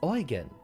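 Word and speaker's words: Eugen: know oygen which is spelled e-u-g-e-n but it's pronounced oygen interestingly enough posture check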